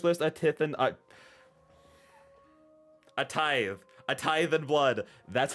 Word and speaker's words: A Tithe in Blood: A tithe and blood. That's how you pronounce the name.